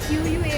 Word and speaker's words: Quay: Yeah, QUA, what they call it? Pronounced as Q.